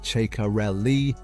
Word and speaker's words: Ceccarelli: His mental coach, Riccardo Ceccarelli, whose pronunciation guides as "Che-ka-rel-li", issued a public warning before the summer break